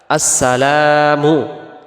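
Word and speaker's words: السلام: আসেন দ্বিতীয়টা আসসালামু আলাইকা আসসালামু এখানে লামের পরে যে আলিফটা আছে এটাকে এক আলিফ টান দিতে হবে আমরা যদি এক আলিফ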